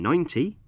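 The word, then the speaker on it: ninety: In 19, we stress the second syllable, teen, and in 90, we stress the first syllable, 9.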